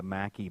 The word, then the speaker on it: maqui: of the maqui berry that has incredible potency.